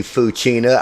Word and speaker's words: Fouchina: hello there welcome to the show foua Hi how are you it's F and I'm glad you corrected me fuina I tell you what I remember meeting you